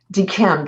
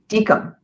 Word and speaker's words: DKIM: DKIM, that's not how you say it. It's DKIM.